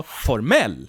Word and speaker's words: formell: The stress moves from the first syllable to the last syllable, formell, which means formal.